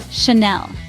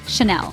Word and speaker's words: Chanel: the at the end the second syllable is Nell rhyming with Belle so it's Shel now let's take a pause a moment of silence if you will for you to practice saying Chanel remember it's Chanel good